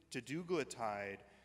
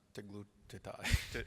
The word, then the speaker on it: teduglutide: So question about, I'm going to mispronounce it, teglutide. Teduglutide.